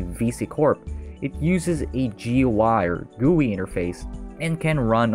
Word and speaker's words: GUI: graphical user interface or GUI or the way pronounce it GUI which is the user interface still being used